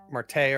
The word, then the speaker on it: Martea: right uh so yeah marga's the daughter martea or Marta m t